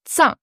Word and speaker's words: 脏: Si vous avez un Z-H-A-N-G, ça fera zang. Ouais, là, c'est Là, on est sur zang. zang. Pour moi, vous rajoutez un D imaginaire devant le Z et ça vous donne une bonne idée de la prononciation.